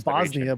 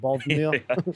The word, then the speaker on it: Bothnia: Because I want to say Bosnia, but it's like Bothnia.